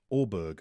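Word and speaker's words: Åberg: The A sounds like the O in Thor. So Ludwig Aberg should be pronounced Ludwig Orberg, I think is what he's saying.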